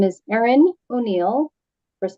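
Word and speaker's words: Erin: what your position is yes my name is Ain O'Neal first name is Aon e r i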